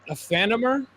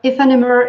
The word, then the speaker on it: Aephanemer: in fact you you you have to pronounce it like in french because it's like the merge of two french words so it will be